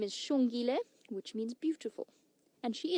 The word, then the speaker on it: Xongile: view that we get Matthews her name is Sean Gillis spelled with an X which in the locals at stronger language is is pronounced sh so her name is Sean Gillis which means beautiful and she is beautiful when